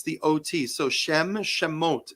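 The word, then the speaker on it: שמות: We are in the Parsha that is called Shemot. Am I pronouncing that correctly, Rabbi? Beautiful. Shemot.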